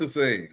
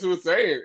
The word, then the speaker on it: Hussein: Oh, am I saying it wrong? What's Husane? Not his name is Hussein.